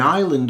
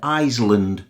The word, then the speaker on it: island: Also, notice the pronunciation, because quite a few of our students pronounce the S in Isle and island, like Isle and Iceland. It's a silent consonant.